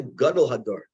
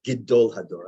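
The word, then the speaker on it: גְּדוֹל הַדּוֹר: Actually, it's gidol hador. I only learned that recently. We all say it wrong because it's smichut. It means the greatest one of the generations, gidol. But we all say gadol.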